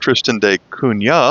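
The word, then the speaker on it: Tristan da Cunha: मुझे लगता है कि इसका उच्चारण ट्रिस्टन दा कुन्हा है।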